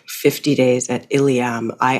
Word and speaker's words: Ilium: tell listeners please what ilam is about am I pronouncing it right ilam yeah ilam ilam okay so the title